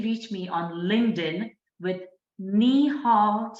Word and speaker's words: Nehal: you can definitely reach me on LinkedIn with nihal I'll spell it for you it's n e h a